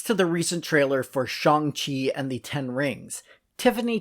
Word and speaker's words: Shang-Chi: And that is how it's pronounced, although I pronounced it as Shang-Chi for quite a number of years before learning its correct pronunciation.